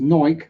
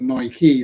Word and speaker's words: Nike: As it doesn't, it is pronounced Nike, like Pike, not Nike, like, no, I'm not going to say that word, because that word will definitely get me in trouble.